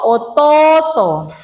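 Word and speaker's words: 弟: Atau contoh misalnya sebutan imouto, otouto. Jadi tulisannya imouto tetapi harus baca imoto. Otouto, ototo. Ya kan?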